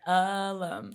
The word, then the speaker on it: Ulum: forgot how to say it I'm G say alum Alum perfect what's going on how are you